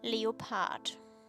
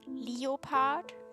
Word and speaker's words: leopard: Leo Leo part because in Austria we say leopard it's Leo Leo part in English so you know my